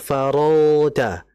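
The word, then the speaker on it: فَرَغْتَ: tadi bacanya masih faidza faragta faragta farag harus faragta farag itu kemudian kedua adalah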